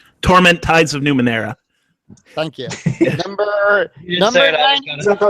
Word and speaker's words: Numenera: at number 100 we have tournament tides of Nomura torment tides of numenera thank you you know the last bad pronunciation number 99 3 number 98 vampire the